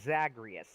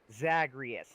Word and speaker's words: Zagreus: to say my name it's not murder it's zagreus zagreus and over the course